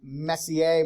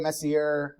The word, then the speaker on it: Messier: there M31 it's um Messier Messier I don't know how to pronounce it uh m-e-s-s-i-e-r I think they drop the r I'm assuming it's French um it's a cataloging